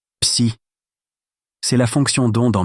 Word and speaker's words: psi: Se prononce psi, c'est la fonction donde en mécanique quantique.